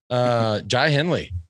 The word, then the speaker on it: Jai Hindley: I was like, hey, just FYI, here's how you pronounce his name. We're like, check. Jai Hindley.